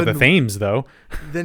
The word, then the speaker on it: Thames: It's spelled Thames, but the British call it the Thames.